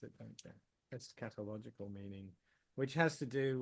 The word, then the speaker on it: eschatological: a doctrine of transmigration takes place so um es catological that's how you pronounce it don't es catological meaning which has to do with the the